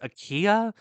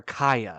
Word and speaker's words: Akiya: And they have a word for abandoned homes out in Japan, and it's either pronounced Akiya or Akaya. I think it's Akiya.